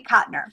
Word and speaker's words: Cotner: And her last name is Cotner, Cotner. So with the title, you'll probably be able to find it. But for sure to make sure you know it's hers, it's Cherie Cotner.